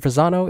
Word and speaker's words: Fasano: His last name is spelled F as in Frank, A-S-A-N-O. Dr. Fasano is a medical doctor,